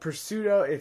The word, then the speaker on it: pseudo: I mean, seriously, it's a pseudo. The P is silent.